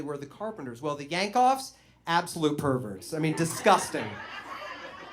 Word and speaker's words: Yankoff: Yankoff. This is his real name. And there are people that tell me that it's pronounced Yankoff, but we did not call him that. We called him Mr. Yankoff.